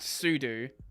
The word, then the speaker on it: sudo: Pseudo is pronounced Sudo.